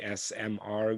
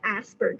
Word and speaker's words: ASPR: I know you said you manage the ASMR grant. Did I say it correctly? Yeah, so it's the ASPR grant.